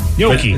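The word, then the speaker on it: Jokić: Jokic is not hard to say. Yoki. It's like gnocchi.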